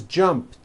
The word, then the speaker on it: jumped: So jump becomes jumped with a T sound at the end. Jumped. Of course, the word is spelled with an ed ending. It's just pronounced as a T.